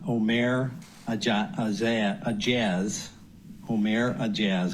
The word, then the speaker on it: Ourmair Aejaz: a a a jazz om a jazz I believe is the pronunciation placing hidden cameras in